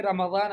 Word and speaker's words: رمضان: قولی رمضان بالضاد رمضان کہیں ضاد سے.